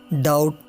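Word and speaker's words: doubt: तो जब बी के बाद टी आए तो बी साइलेंट रहता है, जैसे डेट, सटल, डाउट, सटलाइज। और इसी तरह जब बी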